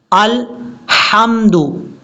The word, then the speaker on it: الحمد: الحمدللہ۔ کتنی بڑی مسٹیک ہے، لام کے بعد آپ کو ہا نظر آ رہا ہوگا، یہ بریک ہا ہے، اس کو حمد نہیں پڑھنا۔ اس کا پڑھنے کا طریقہ کیا ہے؟ الحمد، الحمد، اس طریقے سے،